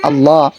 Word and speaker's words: আল্লাহ: আল্লাহ শব্দ যে আল্লাহ, লামকে যে একটু পুর করে পড়তে হয়, এই সমস্ত বিষয়ে কিন্তু এদের জানা নাই।